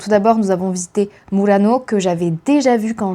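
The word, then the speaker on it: Murano: Je vais essayer de vous les prononcer avec le bon accent italien. Donc tout d'abord, nous avons visité Mourano que j'avais déjà vu quand j'ai été à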